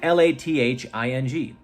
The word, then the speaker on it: lathing: did we learn today I learned how to pronounce the word l-a-t-h and l-a-t-h-i-n-g one is laugh the other one lathing lathing